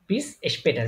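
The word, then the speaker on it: bis später: হ্যাঁ তাহলে এটা কিন্তু এটা শুধু যদি আ হইতো তাহলে তখন উচ্চারণ হইতো পাটার কিন্তু এটা উমলা উঠানোর কারণে উচ্চারণ কি এসপে টার পেটার বিসপেটার বিসপেটার মানে কি সি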